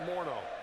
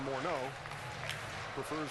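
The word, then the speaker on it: Morneau: balls to strikes to Moro that's the way he prefers to hear his name pronounced for years and years we said Justin morau morno remember he was he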